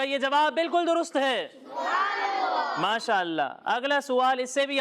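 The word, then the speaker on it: ما شاء اللہ: کا کچھ کہتے ہیں، لیکن انہوں نے درست تلفظ سے ادائیگی نہیں کی۔ وہ کوئی درست طریقے سے بتائے گا؟ چلیں آپ بتائیں۔ ماشاء اللہ۔ ماشاء اللہ کہتے ہیں ان کا، اور ان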